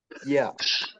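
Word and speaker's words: ياء: জিহ্বার মধ্যখান থেকে উচ্চারণ হবে, কিন্তু জিহ্বার মধ্যখানটা কিভাবে উচ্চারণ হবে? জিহ্বার মধ্যখান তালুতে লাগবে, এটা বলা হয় না অনেক সময়।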